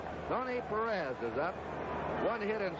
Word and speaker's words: Perez: of that Cincinnati lineup we anglicized his name it's the way they call it in Cincinnati his hometown and most of the announcers Perez Terrace is the Spanish pronunciation we get some wires and letters why don't we say we'll say Perez and he we talked